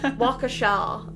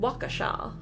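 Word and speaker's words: Waukesha: Yeah, Wakaasha. I think that's how you I think that's how you say it in the American accent. Wakaasha.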